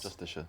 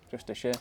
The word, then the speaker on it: Justiciar: Justiciar. Justiciar, there we That's go. how you say it. Sorry, I pronounced it horrifically wrong then earlier.